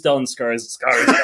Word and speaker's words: Stellan Skarsgård: It is Stellan Skarsgård.